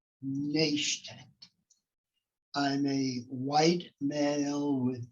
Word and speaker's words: Naishtat: thank you very much my last name is difficult to pronounce it's nation i'm a white male